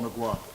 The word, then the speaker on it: Mgła: Yeah, pronounce it Mgła.